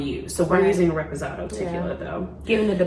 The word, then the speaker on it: reposado: We're gonna use Reposado. That's how you pronounce it.